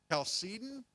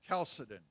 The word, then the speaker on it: Chalcedon: Now, that next council, you can pronounce it a couple of different ways. You'll hear it both Chalcedon or Chalcedon. You can really do it either way.